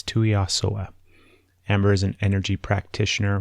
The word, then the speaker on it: Tuiasoa: I have to pronounce her name like that because it's a tongue twister, and I apologize, Amber, but it's Tuiasoa.